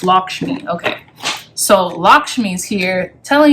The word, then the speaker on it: Lakshmi: wow they don't no they do have the pronunciation here Lakshmi it's Lakshmi okay so lakshmi's here telling you you have